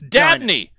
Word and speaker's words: Dabney: Maybe I read the name wrong. This is Dabney.